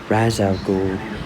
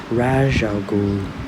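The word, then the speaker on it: Ra's al: about it h yes that's definitely how you pronounce that razal it's definitely not rajal that's not how you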